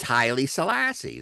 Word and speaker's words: Haile Selassie: his name is Haile Selassie.